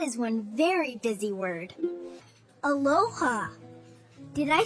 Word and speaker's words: aloha: Aloha.